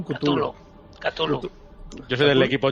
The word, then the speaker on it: Cthulhu: ¿Cómo vamos a pronunciar Chulu? Porque yo digo Chulu, otros dicen Cthulhu.